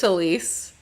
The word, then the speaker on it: Talese: And I'm not saying I did even 1% of what Gay Talese did, Talese? How do you say I think it? it's Talese. Anyway. Talese sounds great though.